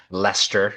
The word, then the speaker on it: Leicester: I just got back from Leicester, I think is how you actually pronounce it.